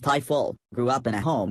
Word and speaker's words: Ifill: Ifill, pronounced Ifill, grew up in a home where the church